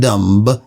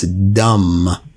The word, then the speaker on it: dumb: As you know, you don't pronounce the B. It's not dumb, it's dumb, just like dam.